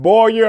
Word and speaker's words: Boyer: my good friend billy boyer and he always tells people that his last name is pronounced boy you're like boy you're in trouble and i am so